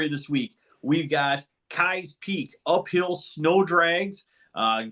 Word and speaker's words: Keyes: all thing Kai's Peak apparently I was saying the name wrong this entire time and I'll I'll own that one but my defense Midwestern or slang you look at it it looks like Keys Kai's okay fine whatever it's a